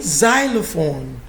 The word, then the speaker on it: xylophone: anxious anxious anxious xylophone what does x say in xylophone let's see what you're saying says this is the transcription of xylophone but it's actually spelled with an x that's why we don't